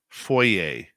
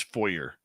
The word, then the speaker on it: foyer: Foyer, pronounced correctly. If you want me to pronounce it incorrectly, it's foyer.